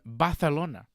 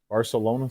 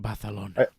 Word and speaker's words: Barcelona: was in Spain in balona great crowd say it John fantastic Barcelona Spain you didn't say it right well I have to say it like you Bona that's how they say